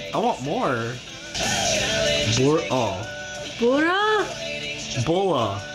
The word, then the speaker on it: Bora: Bora? Because that's the Japanese. Oh. How they pronounce it.